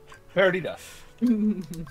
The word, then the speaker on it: Perdita: Like you do hear, he does say Perdita, but the ta part is very, very subtle. Like you could barely hear it when he says it in the movie.